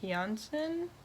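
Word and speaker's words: Jansson: the summer book by Tove Jansen though I've heard it pronounced more like Johnson because she is finish though she speaks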